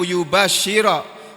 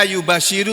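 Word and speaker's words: يُبَشِّرَ: Di sini bunyinya yubasyiro. Padahal kalimat ini bisa saja dibaca yubasyiru itu bisa.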